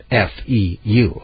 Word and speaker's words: feu: F-E-U, okay? That's how the French pronounce fire.